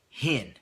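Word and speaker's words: חן: This word grace is the Hebrew word hin. It's spelled C-H-E-N, and it means kindness, favor, to be favored, write down to be favored, and precious.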